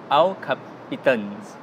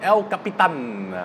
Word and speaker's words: El Capitan: so for the men they used the word I'll cup kittens i prefer the pronunciation El Capitan you know I sufficient